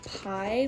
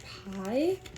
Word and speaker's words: pi: Also, fun fact for you guys, pi like in math is actually pronounced P and it comes from Greek. So, I'm not really sure why we say pi, but little fun fact for you guys, it's actually P.